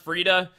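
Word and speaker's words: Friede: It's pronounced Frida. Yeah, I'm gonna keep pronouncing it Freed. I'm sorry. I just like pronouncing things my way.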